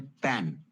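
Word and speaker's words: pen: और हंसनी को हम बोलते हैं पेन। कितना इंटरेस्टिंग है। पेन का मतलब कलम भी होता है। ठीक है? और हंसनी को भी हम पेन बोलते हैं। पी इ एन। स्पेलिंग भी सेम है।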